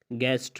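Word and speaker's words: guest: गेस्ट, मेहमान, इसमें यू के बाद ये ही आया है तो यू को खामोश किया गया है।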